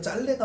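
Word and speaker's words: 짧네: 얘들아 짤래가 맞아. 짤래. 짬내가 아니고 짤래가 맞아. 발음이 표준 발음이 짤래가 맞아. 리을 비읍은 리을이 살아남는 거예요.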